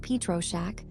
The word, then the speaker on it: Pietroschek: Copyright Andre Michael Pietroschek, pronounced Pietroschek, all rights reserved.